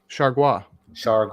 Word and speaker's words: Chargois: Yeah, How do you pronounce his last name, Jay? JT what? Chargois.